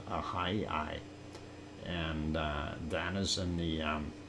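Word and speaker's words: Ahyi: Ahai is how it is pronounced, Ahai.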